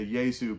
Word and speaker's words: Yezu: In fact, his name, Akiyezu, means a reference to the Yezu being how the Rwandans pronounce Jesus in their native language.